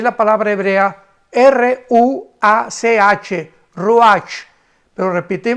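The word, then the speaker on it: רוח: palabra hebrea r&a ch roach pero repite repetimos cuando s h se pronuncia rúa entonces lo primero que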